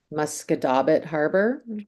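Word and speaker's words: Musquodoboit Harbour: Uh, I'm playing, um, now I got to say this right. Muscadabit Harbor. Good job. Did I say it right? Yeah.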